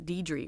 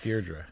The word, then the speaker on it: Deirdre: It's not Deidre, right? No, right. Deirdre.